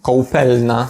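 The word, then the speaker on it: koupelna: Trochę inna jest wymowa, bo po polsku jest ką, a po czesku jest koł, k ko te słowa są trochę inne, ale bardzo podobne. No i w Czechach kołpelna nie opisuje miejsca w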